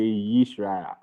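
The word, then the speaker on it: ישראל: Yish, then rish. Yishra. So Israel. but we say Yisrael.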